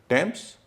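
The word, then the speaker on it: Thames: खासकर टेम्स के मामले में जो नदी है, हां टेम्स, टॉमस इसमें ट बोला जाता है।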